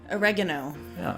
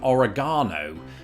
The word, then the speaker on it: oregano: moment ago, how you the American pronunciation here is more close, I suppose, to the the original Spanish. How would you say it? oregano We would go with oregano. We think that that that A there really needs that extension to it. But no, I looked into this, and you know, typically Spanish speakers will say it more or less how you say it.